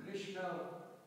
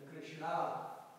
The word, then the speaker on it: Krishna: Krishna is the correct pronunciation, and Krishna is a wrong pronunciation. That's a long K is a wrong pronunciation. When you see the Krishna, there is no dash at the top of the A. But Ra is a long. So it's changing the meaning.